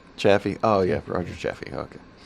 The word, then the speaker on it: Chaffee: it with their best offer Roger how you pronounce that is it chief champion Chaffee oh yeah Roger Chaffee okay NASA Apollo one